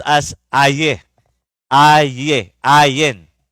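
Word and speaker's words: עין: Ayin means sa bible in the Hebrew noun it is pronounced as ae. Ay ae ayen. Ayin. Okay.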